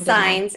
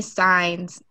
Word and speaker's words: Saenz: Felicia Brown and Saenz. We'll each be talking during this, It's okay. What was the last name? I pronounced it wrong. Saenz. It's okay. Everybody pronounces it wrong. Saenz.